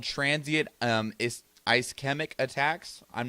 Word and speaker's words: ischemic: It is pronounced ischemic.